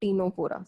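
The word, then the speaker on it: Ctenophora: और इस एग्जाम्पल जो ये मैंने डायग्राम बनाया, this is an example, it's an example of टीनोफोरा, CTE, C silent होता है टीनोफोरा में, टीनोफोरा या टीनो प्लाना, एक ही बात है, टीनोफोरा या टीनोप्लाना।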